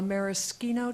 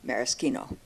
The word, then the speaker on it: maraschino: She asked for a maraschino cherry with her soda pop. Maraschino. Maraschino. Maraschino. Maraschino.